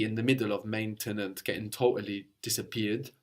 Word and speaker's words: maintenant: Now in French is maintenant or maintenant. So you can hear both. You can hear that E in the middle of maintenant getting totally disappeared, like in maintenant.